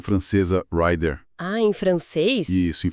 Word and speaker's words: rider: Mas se você usar rider, ou melhor, a pronúncia francesa rider.